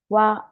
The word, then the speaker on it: wan: So we write one, but when we pronounce it, we don't really pronounce this last N. So it sounds like wa.